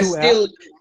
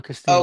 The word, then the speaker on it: Castillo: The two L, Castillo. the two L's, just pretend that it's a Y. So Castillo.